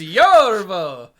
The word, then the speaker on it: Yorvo: You gotta say his name like he's, who's the guy in the painting in Ghostbusters 2? So He is Yorvo.